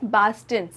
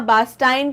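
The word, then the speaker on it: Bastin: सबसे पहले तो ये पास्किन और बास्टिन है, इनका प्रोनाउंसिएशन, इसको पास्काइन या बास्टाइन कहने की बिल्कुल आवश्यकता नहीं है, ठीक है? हमें करेक्ट प्रोनाउंसिएशन सीखने हैं, तो पास्किन एंड बास्टिन।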